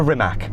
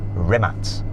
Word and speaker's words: Rimac: you very much to rimac those seeing as I'm now an honorary Croatian I should say it properly rematch is your Croatian hopefully